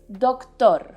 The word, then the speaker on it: doctor: this case o perfect now put the emphasis in the second syllable tor for example i have a doctor's appointment later tengo una